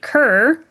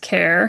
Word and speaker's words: Kerr: He pronounces it kerr. However, it is actually pronounced care.